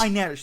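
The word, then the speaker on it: Inej: Am I pronouncing it right? It's No. Okay. Inez. Inez, thank you.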